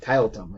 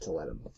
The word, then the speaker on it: Tiletum: and that game is Toletum, or however you want to pronounce it, Tiletum, or Toletum. I pronounce it Toletum.